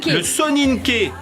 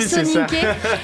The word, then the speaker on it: Soninké: Le Soninké. C'est comme ça que ça se prononce, le Soninké.